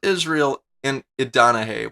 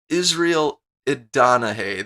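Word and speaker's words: Israel Idonije: I said his name wrong first, didn't I? His name is Israel Idanahe. Why do I have such a hard time saying his name? Israel Idanahe.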